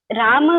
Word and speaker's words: राम: Ma'am, राम का सही उच्चारण क्या है? राम, रामा, रामा, रामा, आ लगाना है। आ बोलेंगे, आ, राम, हाँ, रामा।